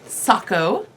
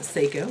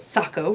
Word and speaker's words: Sako: almost done, is my Sako. Thank you very much for somebody informed who told me that it, in fact, it's not Seiko, as I originally said, but Sako rhymes with taco.